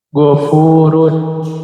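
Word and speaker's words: غفور: Gofurun.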